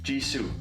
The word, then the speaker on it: Jisoo: Jisoo. Jisoo. Jisoo. Jisoo. Jisoo. Right? Jisoo. That is 100% how you write Jisoo's name in Korean.